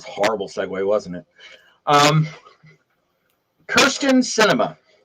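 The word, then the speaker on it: Kyrsten Sinema: segway wasn't it um kirsten cinema and yes that is how you pr how you spell her name and how you pronounce it uh is is a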